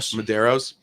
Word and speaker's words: Medeiros: Medeiros.